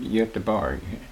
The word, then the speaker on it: Göteborg: You can also pronounce that Göteborg. That's the Swedish pronunciation.